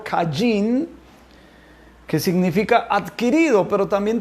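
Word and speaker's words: קַיִן: caín como se nombra como se pronuncia en hebreo caijing qué significa adquirido pero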